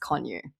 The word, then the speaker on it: Kanuch: show notes or whatever, it's K A N U C H, but it's pronounced Konyu.